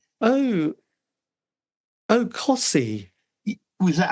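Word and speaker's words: Costessey: c t eou s e y oh oh Cy was that how you say it yes so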